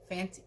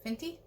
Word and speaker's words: Fenty: that um new thing fenty fancy fenty that's how you say it i finally think i